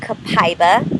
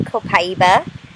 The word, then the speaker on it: copaiba: have experienced this oil cap IVA or like some would say copaiba either one is correct either pronunciation correct so good morning to